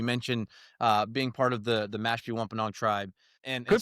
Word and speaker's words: Mashpee Wampanoag: heritage, and you mentioned being part of the Mashpee Wampanoag tribe. Good pronunciation.